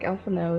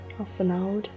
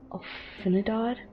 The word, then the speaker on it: Alphinaud: Oh yeah, I used to pronounce this guy's name as Alfinidad in the Realm Reborn until my dad came in and was like, "Oh, you're talking to Alphino? Blah blah Alphino.